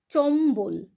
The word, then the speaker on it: চম্বল: কিন্তু আবার বর্গীয় বু যেমন চম্বল দেখো এখানে কিন্তু ম এর উচ্চারণ হলো ব এরও উচ্চারণ হলো কদম্ব এখানেও তাই